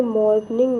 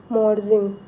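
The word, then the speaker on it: Morsing: फिर कांच तरंग, जल तरंग ये सारे जो हैं ये मॉर्गनिंग नहीं है। इसका स्पेलिंग होगा एम ओ आर एस आई एन जी मॉर्जिंग।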